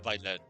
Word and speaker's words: Vlet: Hello, my name is Vlet. Pleased to meet you. Oh my god, he pronounced his own name with a V. I'm honestly surprised he was going to pronounce it with a W.